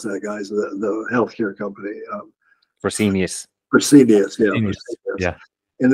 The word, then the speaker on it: Fresenius: And then Freshness is, how do you pronounce that, guys? The healthcare company. Fresenius.